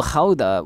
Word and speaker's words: Gouda: i'm in a place called hauda which is in the netherlands where they make cheese we call it gouda because we're fannies um gouda cheese or how that is how they pronounce it you go as if you're going to spit into someone you're saying loch you know um it's not lock by the way any you